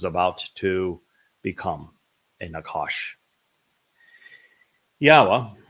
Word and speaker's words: Yahowah: Yahowah, which is the proper pronunciation of Yod He Wah He, he is our Elohah. The O sound from Elohah, God, is provided by the Wah, and it is concluded by the Ah sound in Yahowah's name.